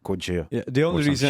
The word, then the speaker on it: Gojira: they took Godzilla, and you know how they said Gojira, and they're like, well, we know You just Gojira. pronounced it in French, and now it's a metal band. Gojira.